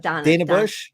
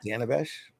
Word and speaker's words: Dana Bash: discussion with you know I will allow you mispronouncing her name that's good Donna bash Bush Dan Bush Dana Dana it's Dana Dana Bash I want see second I don't know Dana